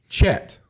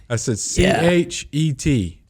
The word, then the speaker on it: Chet: And then I said, it's like bet, but with a C-H.